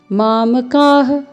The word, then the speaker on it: मामकाः: मामकाः, यहाँ पे भी विसर्ग है, तो आपको ह का उच्चारण करना है। मामकाः पांडवाश्चैव किम कुर्वत संजय।